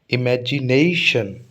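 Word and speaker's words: imagination: इमेजिनेशन, इमेजिनेशन, ठीक है।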